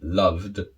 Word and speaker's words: loved: bit more complex so when we have the d sound just a d like loved from the example here